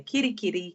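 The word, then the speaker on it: Kerikeri: like to challenge you to say Kirikeri, which is more enhancing pronunciation of our whenua in Kirikeri.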